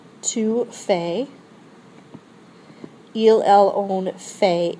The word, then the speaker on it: fait: So faire is je fais, tu fais, il, elle, on, fait. It sounds the same, but it's spelled a little differently, ending in a T.